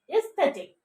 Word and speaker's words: aesthetic: You have to pronounce it aesthetic. Aesthetic, not aesthetic. Aesthetic.